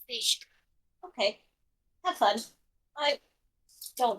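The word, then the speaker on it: Fisch: s I understand how f i s c h I think that's just still pronounced fish no it's pronounced fish okay have fun I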